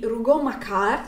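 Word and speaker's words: Rougon-Macquart: famoso ciclo di dei Rugo macar si dovrebbe pronunciare così di Emile Zola Dio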